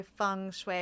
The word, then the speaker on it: feng shui: So the whole term is, the proper way to describe feng shui is to say feng shui, because that's how it's said in China.